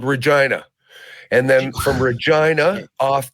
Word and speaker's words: Regina: there we went to the city that R rhymes with fun good old Regina and then from Regina